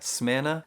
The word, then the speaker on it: Smyrna: city is called smyrna not sure that's how it's pronounced but that's how i've been saying it smearna and smyrna was as